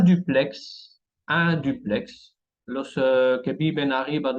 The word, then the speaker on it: duplex: La lettre X qui se prononce, tenemos un duplex.